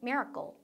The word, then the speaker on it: miracle: miracle 발음할 때도 miracle 하지 마세요, 여러분. 강세 이름절에 꽉 찍으면서 miracle. miracle. 그렇죠? 우리는 이거 쓸 때 miracle 이렇게 쓰잖아요. 그러니까 여러분들이 클이라고 발음을 해야 될 것 같지만 클이 아니라 약간 goal 이렇게 돼요. miracle. miracle. goal. 이렇게 발음이 된다.